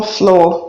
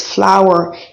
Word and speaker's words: flower: word is flower not flow people call it flow it's not flow it's flower it has exactly the same transcription as flour like roses biscuits lily